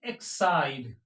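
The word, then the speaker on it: Exide: हैं इ एक्स आई डीई इसको पढ़ते हैं एक्साइड इसको क्या पढ़ते हैं इसको पढ़ते हैं एक्साइड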